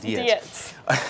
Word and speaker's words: Dietz: Emily Dietz, we've been saying her last name wrong. Dietz.